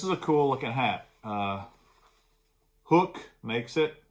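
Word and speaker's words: Huk: Hook makes it. Should be pronounced huck, but they pronounce it hook, like a fishing hook.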